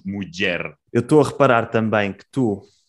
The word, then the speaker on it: muller: Sí, muller, mugi. Porque, a parte, isto também é muito pela... Sí, com duas L's, dizemos muller.